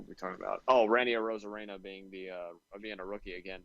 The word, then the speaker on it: Arozarena: What makes it even more scarier is that Randy Rosario, or however you pronounce his last name, I think I got it right. Ozario. Oh, like Arozarena.